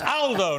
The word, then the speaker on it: Aldo: he picked me up but it's Aldo not older Aldo's a very British pronunciation in Italian uh good to see